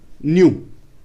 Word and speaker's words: nu: This is pronounced as nu.